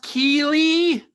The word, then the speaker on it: Keighley: Jeff Jeff Keely anybody I think it's pronounced Keely spelled strangely but I think that's